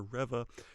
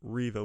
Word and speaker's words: Reva: the riva character now a lot of people have been calling her reva and myself included but it is pronounced riva we've found that out